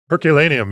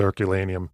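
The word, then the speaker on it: Herculaneum: went to the herculanum I think it's pronounced herculanum yeah so herculanum is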